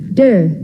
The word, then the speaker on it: Te: concepts of the book Dao meaning Wei it is spelled t-a-o der meaning virtue or power spelled t e Jing